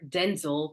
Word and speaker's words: Denzel: you you know um Denzel Washington or Denzel because he said that's how it's pronounced so Denzel Denzel Washington